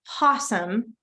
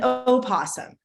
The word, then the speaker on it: opossum: an actual opossum now I've heard it pronounced possum and oh possum both ways so both ways are correct it's kind of like